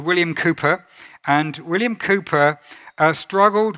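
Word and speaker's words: Cowper: wrote it's written CER it's pronounced Cooper there is a fountain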